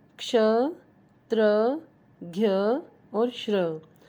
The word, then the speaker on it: क्ष: मैं बोलना चाहूँगी कि क्ष को सभी बच्चे या मोस्टली बच्चे श कह के बुलाते हैं। ये श नहीं है, ये क और शह से मिलके बनता है, तो इसको प्रोनाउंस भी इसी तरह किया जाएगा। इसका उच्चारण होगा क्ष, क्ष।